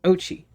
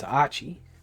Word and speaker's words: Ochi: game, his name is Ochi. Which is really funny because most people pronounce it that way. But actually... Yeah, I had noticed. Actually, it's Ochi. Almost like the O is an ah sound.